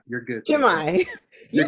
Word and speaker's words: Kimi: to the show thank you thank you you pronounce it Kimi you're good Kimi you said that you got you know what